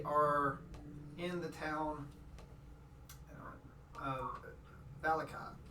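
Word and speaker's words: Vallaki: Valaki, right? Yeah, it's Valaki.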